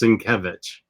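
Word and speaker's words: Sienkiewicz: that very well yeah i've learned that it's cinkevich um i did not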